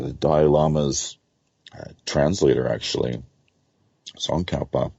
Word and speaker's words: Tsongkhapa: dial Amoz translator actually tsongkhapa I believe is how you pronounce his name Rinpoche is popping up